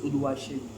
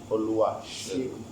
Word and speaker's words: Oluwaxegun: And then now let's talk about the X on your name and how to pronounce it. My full name first is Oluwa Xegun. Oluwa Xegun.